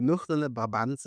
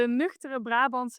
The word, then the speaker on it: nuchtere Brabantse: Let's start with the pronouncing. It's the nuchtere Brabantse in the cloud.